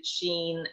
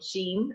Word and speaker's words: Sian: week we are going to be talking to sheen who is the freelance stylist uh welcome sheen and i'm i'm pronouncing your name right yes yeah we do